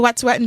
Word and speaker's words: Wet'suwet'en: Wet'suwet'en, yeah.